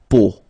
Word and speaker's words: peau: it's, but then, so the sound that you will have to pronounce when you've got these three vowels combined together, it's the sound O. Okay, so really simple, O,